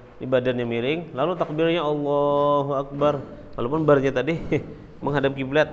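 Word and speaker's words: الله أكبر: Jadi jangan ada sampai salah huruf Allahu Akbar, atau banyak tadi digantinya dengan ta, misalnya dia melafazkan dengan ta Allahu Aktar.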